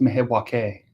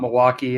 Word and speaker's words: Milwaukee: It's pronounced Milwaukee, Oh, wow. according to Alice Cooper.